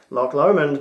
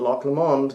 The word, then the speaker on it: Loch Lomond: i'm doing it again loch lomond not loc le monde naughty naughty naughty pronunciation there um campbell left this